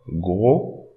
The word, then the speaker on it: gros: Don't pronounce S, gros.